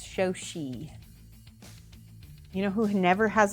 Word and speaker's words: Shoshie: on the first height very few people say my name correctly even a lot of people say Sochi or so or show see and that's wrong it's show she you know who never